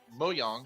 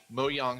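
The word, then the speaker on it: Mojang: to buy minecraft studios mo yong which i just found out how to pronounce it this week thanks joe moe young studios they want to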